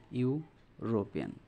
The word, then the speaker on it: European: ইউরোপিয়ান যদি আমরা এটা প্রনাউন্সিয়েশন করি, উচ্চারণ করি, তাহলে এটা ইউর মতো হয়ে যাচ্ছে, ইউরোপিয়ান।